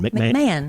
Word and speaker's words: McMahon: I hope I'm pronouncing your last name right. Yeah. Mahon. McMahon. McMahon? Yeah. Okay. McMahon? Yeah.